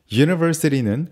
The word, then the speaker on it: university: university는 관사 A를 붙여서 사용하는데요. 이는 university의 발음 기호를 보면 자음 J로 시작하기 때문입니다.